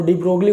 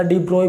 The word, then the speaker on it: de Broglie: होता है डी ब्रोगली, तो आप डी ब्रोगली बोल सकते हो या डी ब्रोए बोल सकते हो, उसमें कोई चेंजमेंट नहीं है, कुछ भी बोल सकते हो, प्रोनाउंसिएशन कुछ भी हो सकता है।